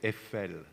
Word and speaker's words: Eiffel: you say Eiffel uh we don't say iPhone we say FL effect okay uh I'm